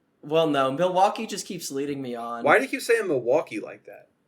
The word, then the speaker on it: Milwaukee: You don't pronounce the L.